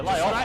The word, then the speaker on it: Lahif: Lahif. How do we pronounce it, Laf? Lahif? Yeah, lay off, mate.